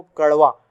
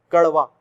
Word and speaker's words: कड़वा: तो इसका बेसिकली क्या है ना, इसके उच्चारण में जीभ जो है झटके से ऊपर जाती है। ड़ा और ड़ा बोलते समय झटके से ऊपर, देखो कड़वा, कड़वा बहुत तेजी से, सेकंड्स भी नहीं